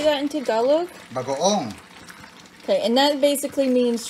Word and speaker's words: bagoong: Bagoong. Okay, and that basically means shrimp paste, right? Yeah, bagoong, we say bagoong.